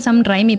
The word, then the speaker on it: Sam Raimi: O sea, se escribe Sam Raimi, pero se dice Sam Raimi.